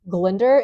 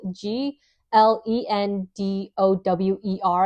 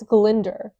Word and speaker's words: Glendower: pronounce the king's name Glinder. It's spelled G L E N D O W E R I think which you would think is Glendower. No, it's Glender.